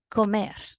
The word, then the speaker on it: comer: Another word, and this is comer. Comer. 2 syllables. Comer. Mer is the strongest part of the word, which means that this word is also aguda.